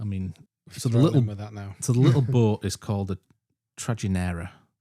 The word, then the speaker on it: Trajinera: I mean, So, the little boatman Trajinera. Trajinera. Like tragic kind Trajinera. T R A J I N E R A. Ah, so the J wouldn't be pronounced as J.